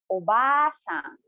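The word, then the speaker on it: おばあさん: it is read as obasan again so notice how i prolong the ah of the obasan as is written after it denoting that you should read or read longer compared to obasa so that's it guys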